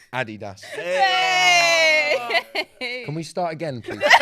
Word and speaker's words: Adidas: If you're from America, you're probably pronouncing the sneaker brand Adidas. Mm-hmm. That's completely wrong. It's Adidas.